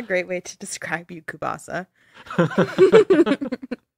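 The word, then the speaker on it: kielbasa: why are you saying kupasa how is it pronounced this is anakupasa oh no it's the Tzatziki katsiki thing all over again oh my God I'm not it's kubasa that's how you say it thanks okay it's kubasa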